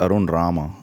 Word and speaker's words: Arun Rama: Please welcome to the show Arun Rama. Welcome back, brother. What's up? What's up? I know I mispronounced that, but I try. It's is it's Arun Rama. Rama like drama.